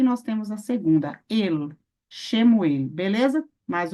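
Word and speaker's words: שְׁמוּאֵל: Como, por exemplo, aqui nós temos escrito Shemuel, She, porque She, Shin, mas She. Muel, Shemuel.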